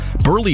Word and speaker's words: Buehrle: wrong on his jersey burley is spelled b-u-e-h-r-l-e however the equipment staff put the r before the h because that's how it sounds when you pronounce his name so when burley saw